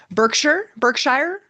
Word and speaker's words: Berkshire: Berkshire? How do you want to do that? The Berkshires? No, it's Berkshire.